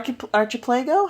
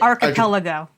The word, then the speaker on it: archipelago: Panama Canal what AR archip PLO how do you say that is so not how you say that how do you say it archipelago are you serious yeah